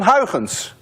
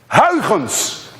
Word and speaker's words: Huygens: You see, this sound, UY, is pronounced in Dutch as ui. None of you can say ui unless you're Dutch. To make it worse, this sound you don't have either in English. That's a ch.